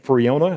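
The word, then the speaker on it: Friona: a church elder named freona that's how you pronounce that freona texas man of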